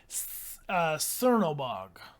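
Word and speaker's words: Černobog: So apparently the letter C is pronounced as TS. Aha. So Cernobog. Yeah?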